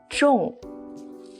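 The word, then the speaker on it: 众: the states of run this one is pronounced as Chong Chong Chong means crowd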